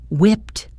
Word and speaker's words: whipped: Similar to hold, the ed ending on whipped sounds like a T.